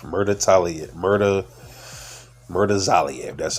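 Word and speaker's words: Bakhram Murtazaliev: And one loss came, one of his losses were by knockout at the hands of Bakram Murder Zalav. Murder Talia. Murder. Murder. Zalv.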